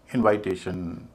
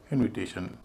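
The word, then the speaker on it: invitation: लेकिन बाद के जो 4 शब्द हैं उनको वैसा नहीं बोलते। रिसाइटेशन, इनवाइटेशन, प्रोनाउंसिएशन, डिज़ाइनेशन। क्या आपने किसी को सुना इस तरह बोलते हुए? नहीं। हम इनको बोलते हैं रेसिटेशन, इन्विटेशन।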